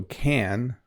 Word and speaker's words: can: And then, if you look at can, it says schwa vowel in fast speech. So if you don't know what schwa is, it's when, my description is always like the vowel just kind of shows up. Like, it's not stressed, it's not emphasized.